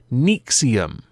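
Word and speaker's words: NXIVM: but it isn't but it is pronounced nium which to me is quite interesting because I had thought it was was a rather well dumb way of writing Nexium there is actually a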